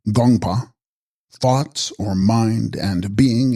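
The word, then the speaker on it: དགོངས་པ: Text, Gongspa, pronounced Gongpa, thoughts or mind, and being in the honorific form, divine mind.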